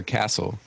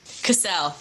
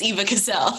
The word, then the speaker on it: Cassel: Is it Cassel or Castle? Cassel. Cassel. Okay, cool. Yep. Everyone, I've gotten Eva Cassel more times than I can count, but it's Eva Cassel.